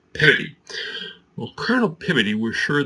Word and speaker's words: Peabody: Now we look at that name and think, well, that must be Colonel Everett Peabody, but no. He was from Massachusetts, he was a Harvard graduate, and he pronounced his name Colonel Peabody.